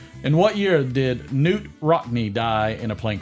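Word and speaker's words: Knute: up who uh yeah Newt k-n-u-t-e because I'm assuming the K is silent I'm assuming there he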